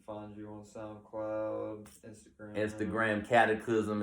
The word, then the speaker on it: Cataclizm: People can find you on SoundCloud, Instagram, Cataclysm. It's spelled like it sounds. Don't forget the Z in the end.